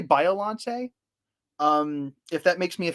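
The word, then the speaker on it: Biollante: You can say it both ways. I really don't think it matters. Biolante. I've heard of Biolante.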